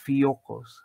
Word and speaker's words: Fiogkos: And, yeah, the K is silent, so it's just, you would pronounce with the G.